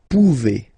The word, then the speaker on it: pouvez: Remember you pronounce it E, okay? Vous pouvez, vous pouvez.